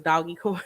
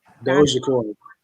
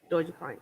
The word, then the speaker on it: Dogecoin: I think it's I thought it was Doggy Coin, but it's not Doggy Coin. It's pronounced a different way. How you pronounce it? When you know how to pronounce it? Dogecoin. Dogecoin.